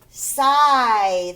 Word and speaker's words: sigh: Sigh, the GH is silent.